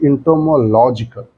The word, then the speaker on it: entomological: Now, if we try to write this word, so it will be entomological. In this case, the stress will shift to LOG part.